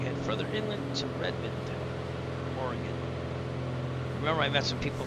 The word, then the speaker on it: Oregon: As we head further inland to Redmond, Oregon. Remember, I met some people from Oregon, and I kept saying Oregon. They kept correcting me as Oregon.